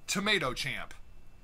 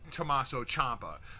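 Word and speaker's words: Tommaso Ciampa: number-one suspect and that suspect is tomato champ I think what they meant to say was Tommaso Champa there then interrupted by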